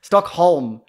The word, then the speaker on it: Stockholm: Stockholm Syndrome, I think. Yeah, I think it is. Yeah. Stockholm. It's Holm, isn't it? Because it's not home.